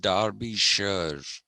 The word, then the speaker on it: Derbyshire: derbyshire okay it's pronounced darby sure we say shire when we write s-h-i-r-e the british say sure for s.h.i.r.e and d-e-r-p-y darby they